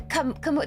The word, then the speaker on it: Kamu: Anyways, Camu the Kamu the S is silent.